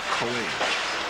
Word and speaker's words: Coage: called bad news Allen say people don't pronounce my last name correctly they call me kage CJ cage but it's cage B news Allen cage